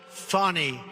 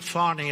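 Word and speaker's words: Fani: An Atlanta judge on Friday ruled that Fonnie Willis It's It's actually pronounced Fonnie. It's F A N I. But you pronounce it Fonnie.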